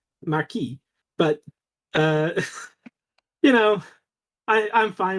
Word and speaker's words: Marquis: Wildbow apparently fails the English pronunciations of these words, like Chevalier and Marquis. There are French pronunciations of them, like Chevalier and Marquis, but you know, I'm fine with English pronunciations.